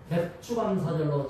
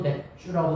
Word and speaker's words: 맥추감사절: 늘 마음의 평안을 유지하는게 중요합니다.뿐만 아니라이 7월 첫주는 맥추감사절로 지키는데요. 발음을 잘해야 됩니다. 애매하게 핑계듣고 맥주 가는 사실이야. 이러면 어 난니까 따라합시다. 맥추 감사절. 맥추 감사절. 그래도 맥주라고 발음하는 분이 있으세요.